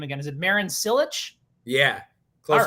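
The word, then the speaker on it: Marin Čilić: Is it Marin Cilic?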